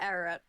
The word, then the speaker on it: Ararat: Yeah, Ararat. Ararat. Okay, so okay, I pronounced it right.